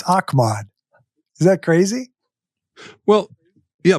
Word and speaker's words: Ahmad: ago Ahmad Rashad said the only guy to pronounce my name correctly is Bud Grant it's Ahmad is that crazy well